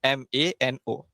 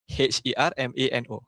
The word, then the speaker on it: hermano: H E R M A N O. H E R M A N O. Okey. Dia ada H tapi kita tak sebut Hermano. Bukan dia sebut mano. Okey. Dia silent.